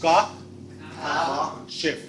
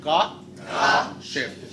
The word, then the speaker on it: Kashif: It's Ka, Shif. One more time, Ka, Shif.